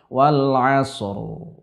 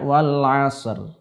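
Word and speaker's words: والعصر: Begitu juga pada surat Al-Asr, terutama di ayat pertama misalkan wal asr. Banyak orang bacanya wal asr. Seperti ini saja. Ro-nya terdengar tipis, padahal seharusnya dalam keadaan-keadaan ini huruf ro dibaca dengan tebal.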